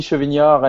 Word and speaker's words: Chevignard: Yeah, Chevignard, and Mehdi, Medjaoui, yes. Pronunciation is perfect. Like for German, it's Chevignard.